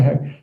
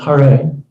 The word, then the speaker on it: Hare: Chant 16 rounds of Hare Krishna, Hare." It's pronounced Hare.